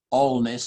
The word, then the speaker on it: Alness: with later today is this one all Ness as it's pronounced um and that happens